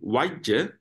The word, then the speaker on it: vajja: And then vajja. Vajja is for fault. So here we talk about pointing out faults. So vajja is fault. Vajja. That is how you pronounce it.